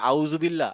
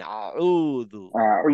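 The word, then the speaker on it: أعوذ: class পরে ইনশাল্লাহ শিখবো আপাতত মনে রাখেন এটা আউ না আউদু আইন আউদু আউদু আউদু আউদু আউদু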